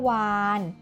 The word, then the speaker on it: วาฬ: จุฬา เป็น ตัว สะกด เวลา เขียน เรา จะ เขียน รอ จุฬา เป็น ตัว สะกด แต่ เวลา อ่าน เรา จะ อ่าน ออก เสียง เหมือน นน หนู เป็น ตัว สะกด นั่น เอง ค่ะ อ่ะ และ แล้ว วัน